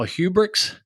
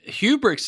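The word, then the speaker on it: Hubregtse: want to introduce my guest for today kyle hubrics kyle did i say that correctly that was pretty good okay because it spelled like we'll spell your last name so it's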